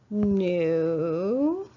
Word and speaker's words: knew: capitalize it I knew here's that silent K knew he II was and